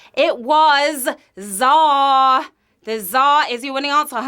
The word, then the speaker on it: Tsar: The supreme ruler with a silent T, it was Tsar.